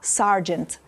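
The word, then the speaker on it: sergeant: роблять ну давай наприклад як правильно вимовляється англійською слово сержант Ось так всі кажуть ніфіга давайте розкажу вам насправді і в Британській англійській і в американській англійській неважливо в якому варіанті голосний звук буде а sargant просто в американському варіанті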